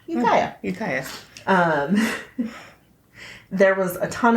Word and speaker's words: Ukiah: He was abducted from Ukiah, California, and that is exactly how you pronounce it, because the documentary said it so many times that there's no way I could ever forget.